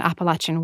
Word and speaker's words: Appalachian: narrator who you know he talks in a Southern Appalachian way and by the way I'm using that pronunciation of appalache advisedly that is how people from that area would say it and so that's how I say it as well um where